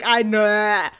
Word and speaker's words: Ainur: There's no good way to say it. I don't care. Just roll your R's, Barry. I can't roll my R's. It sounds like Ainur.